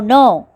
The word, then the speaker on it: know: Ninth one, NO, no. நோனா இல்லைன்னு அர்த்தம். அடுத்தது KNOW, no. இங்கே K silent. KNOW, no. KNOW, no அப்படின்னா தெரியும்னு அர்த்தம்.